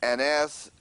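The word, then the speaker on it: ἀνάστασις: And it's right, and it's pronounced anastasis, anatasis.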